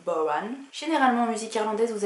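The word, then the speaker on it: bodhrán: Pas de tambour, mais ce qu'on appelle le bodhran, qui s'écrit baudran, mais qui se dit bodhran.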